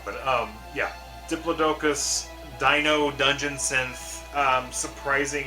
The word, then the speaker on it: Diplodocus: Diplodocus, I think is how you say it.